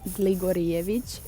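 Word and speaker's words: Gligorijević: 22 years old also if you can't pronounce my surname it's gligorievich it is a bit harder and it's even hard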